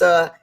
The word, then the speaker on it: Karith: That's Karith. Karith. Who said that with a lisp? Somebody. What? That was It's like carrot with a lisp, so people can pronounce it properly.